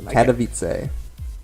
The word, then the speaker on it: Katowice: How do you even pronounce the name? Katowice.